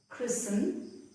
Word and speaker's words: christen: T is also silent when a word ends in S-T-E-N. For example, christen.